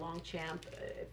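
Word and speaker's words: Longchamp: to say you know this would be like long chomp on it or a long champ that's how you pronounce it but if you buy the the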